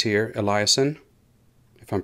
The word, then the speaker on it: Eliason: you see how the sites it says here eliason if i'm pronouncing it correctly correctly e-l-l-i-a-s-o-n eliason as it turns out eliason was the one